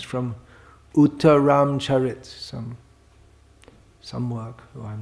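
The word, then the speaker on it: Uttararamacharita: No, it's not from Raghuvangsha, it's from Uttaram Charit, some work. Oh, I'm not sure who it's by. Uttaram Charit. Uttara Rama Charita, if you want to say all the Sanskrit syllables.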